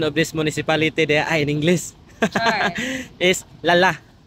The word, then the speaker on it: Lala: rock sure na tulog klala the correct pronunciation of this Municipality in English Lala L Lala lal lalak L del Norte G